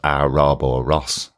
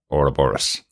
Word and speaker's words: Ouroboros: so I've always heard it Liverpool accent as a robor Ross um which was the explanation for how uh